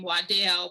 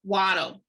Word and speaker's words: Waddel: wado did however and sometimes people i think now pronounce the name waddell with the family is very clear that it was pronounced waddle he's uh he served